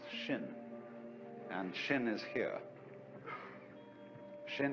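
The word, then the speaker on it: 心: In Chinese, mind is um This word pronounced shin and shin is here.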